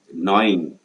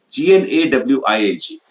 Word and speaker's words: gnawing: Gnawing. G-N-A-W-I-N-G. G-N-A-W-I-N-G is nibbling like this, nibbling. Small rats or cats, we use the word gnawing. G is silent. G-N-A-W, gnaw. G-N-A-W, gnawing means, that nibbling it off.